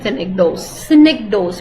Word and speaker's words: synecdoche: The difference is that when you're doing synecdoche, please pronounce with me, synecdoche.